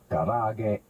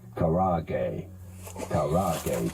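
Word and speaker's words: karaage: pronouncing it in japanese it is normally pronounced something along the lines of karage but in english it's generally said as karage cooking all right thanks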